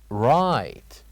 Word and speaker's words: right: after me right right so what do you think the silent letter is or letters in this word very good the silent letters here are G and H let us move on